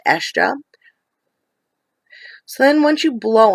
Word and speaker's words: Hestia: Looks like Hestia, but I've been told by Marion, who is a Hellenic polytheist, excuse me, that it's pronounced Estia.